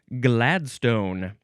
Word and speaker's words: Gladstone: Now, we go to ring Gladstone. And the uh chiefly British uh pronunciation would be Gladston. Gladston or Gladstone.